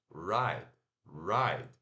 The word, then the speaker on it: write: Mas se pronuncia o R puxado, A, né, aquele que a gente acabou de ver, e curto T. A, I, right, right.